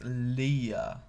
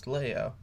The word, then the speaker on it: Leia: john deudana they both call princess leia princess leah and they do this multiple times and i don't believe they ever correct themselves to princess leia um so yeah people pronounce the names differently